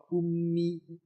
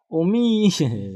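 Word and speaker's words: أمي: Ummi gitu bukan umi bukan ya. Tapi tasdidnya huruf mimnya ummi gu ya.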